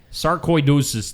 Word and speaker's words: sarcoidosis: C-O-I, koi. Sarcoidosis Day.